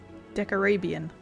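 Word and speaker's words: Decarabian: from that tower was decorabian god of storms that's how it's pronounced deck arabian back then i was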